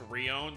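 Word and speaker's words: Rion: still the same like in Japanese it's Ron so r i o n but Ron and Leon are are very close so it's probably just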